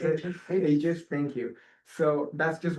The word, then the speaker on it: Aegis: I always mispronounce it. Aegis, thank you.